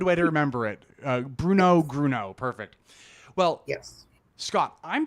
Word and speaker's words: Grunow: it's he keeps saying grun now it's gruno that's it rhymes with Bruno oh that's that's a good way to remember it Bruno gruno perfect well yes Scott